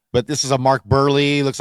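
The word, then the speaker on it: Buehrle: This is Mark Burley. Burley. That's right. Okay. Stud pitcher. Okay. Mark Burley. Sorry. You get that U and the E.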